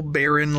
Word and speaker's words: Beryn: three of baby boy risk being here little Baron lyrics risk and that's how it's pronounced and he just got taken away from